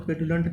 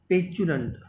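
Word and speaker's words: petulant: Next word दिया गया है जिसको आप पेटुलेंट बोलने वाले हैं, तो पेटुलेंट नहीं होगा, पेचुलेंट।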